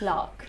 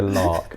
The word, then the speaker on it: lakh: Lark. Lark. Like a lark, but it's not spelled with an R. It's spelled L-A-K-H.